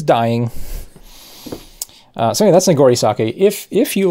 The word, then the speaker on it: sake: You know, you can check out Nigori sakes. They're not sakes. Yeah, not sake. Sake is a better pronunciation.